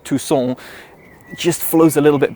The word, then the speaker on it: Tucson: know in the UK and Tucson which really sounds French to me so therefore I could have gone with I reviewed you Hyundai Tucson just flows a little